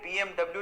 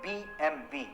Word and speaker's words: BMW: In fact एक सर्वे के अनुसार 95% तक लोग इसे BMW ही पढ़ते हैं, लेकिन एक्चुअली इसे BMW नहीं पढ़ा जाता। इसका सही उच्चारण है BMV।